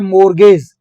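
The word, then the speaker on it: mortgage: एक है मोर्गेज, इसको बोलते हैं मोर्गेज, टी साइलेंट होता है इसके अंदर।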